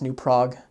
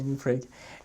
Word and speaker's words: Prague: was new pra uh should be pronounced New Prague uh but it's Minnesota so they're going to say new pra and uh but it's